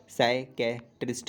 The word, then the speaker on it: साइकेट्रिस्ट: तो इसमें गलती तो सबसे पहली मेन आदमी ये कर देता है, पी का प्रोनाउंसिएशन होता नहीं है, सिर्फ साइकेट्रिस्ट का होता है।